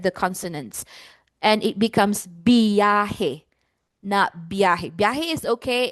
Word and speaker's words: biyahe: Consonant cluster is when two consonants are together in one syllable. So, B and Y are together. Okay. Now, in the phonology of Tagalog, we do not have consonant cluster.